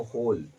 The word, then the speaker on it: whole: यहां पर डब्लू का उच्चारण नहीं होता है। ध्यान में रखिएगा होल नंबर में डब्लू का उच्चारण नहीं होता। नहीं होता है। बस लिखेंगे डब्लू बट पढ़ेंगे इसको होल।